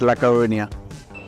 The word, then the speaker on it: A Coruña: The Spanish, I think they say A Coruña. When we say La Coruña, they look at us a bit like, what?